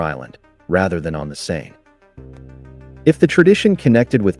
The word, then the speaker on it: Seine: In Italian, the river is called Sena, while in French, Seine is pronounced with a single N sound.